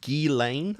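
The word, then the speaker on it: Ghislaine: new girl right now I think it's pronounced Gane I did look at the dub uh pronunciation for it so I guess the S is silent and um yeah what I'm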